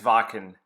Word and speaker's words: Wacken: I will accept no comments about how to pronounce this name. It is Wacken. Even if you're German and say it's not Wacken, it's Wacken.